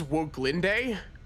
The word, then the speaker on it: Woglinde: I believe this is pronounced as Woglinde. It's pronounced weird.